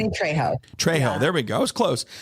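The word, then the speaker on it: Trejo: you say his name last name Danny tro tro there we go was close Danny tro he's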